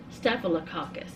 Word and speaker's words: staphylococcus: is b-r-e-f methicillin resistant staphycolus cacophus y'all know what I'm saying staphylococcus that's how you say it arios Arias MRSA I